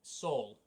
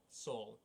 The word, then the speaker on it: Saul: Saul. Saul. Like Paul, but with an S. Like, you know, Better Call Saul?